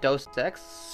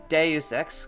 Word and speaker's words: Deus Ex: back to deus ex that game have been pronouncing wrong the best shoot webisodes calling it dost text stupid me deus ex cuz it's a days extract as the professionals